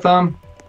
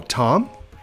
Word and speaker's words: Thom: Hey, what's up, Thumb? Ta-da, ta-da. Thumb? Oh, Tom? It's the H is silent. It's like Thomas.